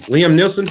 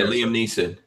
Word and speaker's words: Liam Neeson: Liam Nielsen. Ain't that how you say his name? Oh, yeah. That guy's a leftist big time. Fuck yeah, Liam Neeson.